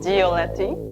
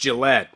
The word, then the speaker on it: Gioletti: So good of you to come, Mr. Gioletti. It's pronounced Gillette.